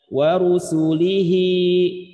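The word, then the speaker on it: ورسوله: Contoh ya, wa rusulihi, ya, misalkan seperti ini. Maka cara membacanya bunyi hi ini adalah dengan cara disukunkan, maka bunyi hak jadinya wa rusulih, nah, seperti itu.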